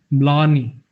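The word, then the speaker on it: blarney: इसकी प्रोनाउंसिएशन देख लेते हैं अपन। ब्लानी, ब्लानी, ब्लानी, ब्लानी, ब्लानी, ये इसकी प्रोनाउंसिएशन है।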